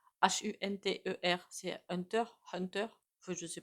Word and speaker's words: Hunter: s'appelle je sais même pas comment on le prononce Hu n T e r C'est Hunter Hunter je sais pas le fils